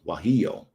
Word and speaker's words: guajillo: That's what it says, and it's guajillo. Let's see how to say that. Guajillo. Yeah. Now I know how to say it.